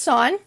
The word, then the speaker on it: sine: tan okay so sine so even though it looks like sin it's always pronounced sine then we've got cosine